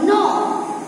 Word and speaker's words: know: और नो, यहाँ पे के है वो साइलेंट हो जाएगा, KNOW का क्या बोलेंगे, नो।